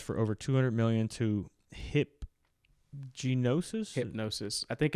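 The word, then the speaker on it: Hipgnosis: Yeah, Justin Bieber sells music rights for over 200 million to Hypnosis. I think it's a hip spelling of the G. Hypnosis. Oh God, yeah, the G is silent. Hypnosis Songs Capital.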